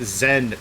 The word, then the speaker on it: XEN: Uh there's a turret they added about like five months ago called the XEN pronounced Zen turret and in it you put the Zen pieces that you would normally put inside of your gun.